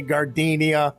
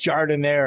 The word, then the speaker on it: Gardenia: register looking at me don't look all nervous and say gardenia it's pronounced jardin air this is mike roberts